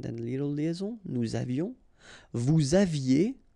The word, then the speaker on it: vous aviez: Vous aviez, EZ at the end, et aviez, and then liaison. Vous aviez.